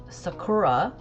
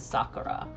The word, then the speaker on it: Sakura: the English dub and they pronounced it Sakura. And so whenever I say card captor Sakura, I want to say Sakura cuz that's like it's so ingrained in me. But now getting older, I recognize that the proper pronunciation is Sakura.